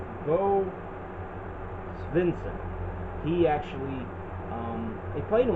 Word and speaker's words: Svensson: Bo Svensson.